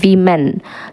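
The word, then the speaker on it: women: அதே மாதிரி வுமேன், அதோட ப்ளூரல் ஃபார்ம் என்ன கேட்டிங்கன்னா விமென். ஸோ ஆக்சுவலி வுமேன் அப்படின்னு ப்ரொனவுன்ஸ் பண்ணணும். அதே ப்ளூரலாக சேஞ்ச் பண்ணும்போது அந்த ஊங்கிற சவுண்டு வியாக மாறுது. ஸோ விமென் அப்படின்னு தான் சொல்லணும்.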